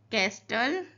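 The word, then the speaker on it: castle: कैस्टल T silent है।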